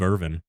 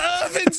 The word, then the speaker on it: Irwin: to Steve Irvin's Animal Exploration Show. Today we are looking at the badges. Wasn't it Steve Irvin? Steve What was his name? Irwin. Win. You just it's how you pronounce W's.